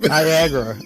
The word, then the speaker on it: Niagara: Niagara. NIAG. Don't ask me to. Where's the end of the day here? I'm going to have to write the shit out. Rhymes with Viagra.